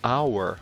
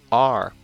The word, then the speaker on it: our: Aí, se você vai para o nós ele vai se conectar ao our ou apenas are. Tanto faz, as duas pronúncias estão corretas. Our ou are.